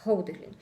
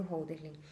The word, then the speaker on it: Hölderlin: Eu não sei se eu sei pronunciar muito bem o nome dele, é Hölderlin.